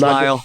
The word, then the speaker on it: Lisle: I don't know how to pronounce it. It's Lisle.